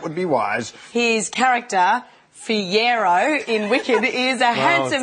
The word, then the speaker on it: Fiyero: I just had to get the pronunciation right. Fiyero, yeah. Well, I think I've had Fiora. Pajero, Pajero, I think it's been in there as well. Fajola.